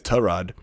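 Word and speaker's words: Tyrod: career he's like oh by the way it's terrad nope too late nope sorry no you surely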